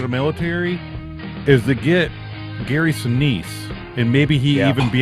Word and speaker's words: Gary Sinise: I Wouldn't think you need to pronounce his name correctly if you're going to have him on. Gary Sinise. It's Gary Sinise.